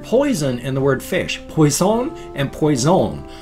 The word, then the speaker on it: poisson: So The word poison and the word fish, poisson and poison, are both spelled exactly the same, but they're pronounced differently, so you have to figure it out by context.